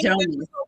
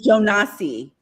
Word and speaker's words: Jonas: I think Africans are pronouncing it Jonas. Call him Jonas. American is Jonassss.